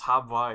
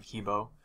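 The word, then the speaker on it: He Bo: we're talking about hebbo because Hava is sort of like the way you're supposed to pronounce it but I'd say 90% of the players out there still call him hebbo and that's the water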